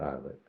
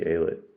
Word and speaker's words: Aylett: last year and I'm pretty sure it's Ayla not eyelid but I kept saying islet so I messed up